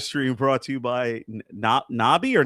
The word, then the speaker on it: Nobby's: This live stream brought to you by Nobby or Nubby?